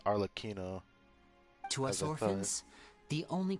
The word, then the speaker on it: Arlecchino: So they do say her name as Arlecchino.